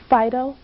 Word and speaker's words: phyto: his blessed phytonutrients now phytonutrients may be a new word to you Fido is Greek it's spelled pH Y tio and it only means